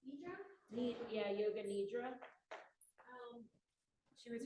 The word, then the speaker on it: nidra: Is it pronounced Nidra?